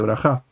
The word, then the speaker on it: Brajá: Y Israel en lugar de Israel, Bruja en lugar de Brajá.